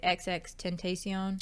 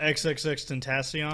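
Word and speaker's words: XXXTentacion: think it alludes to how do you say XX Tentacion? Oh, XXX Tentacion.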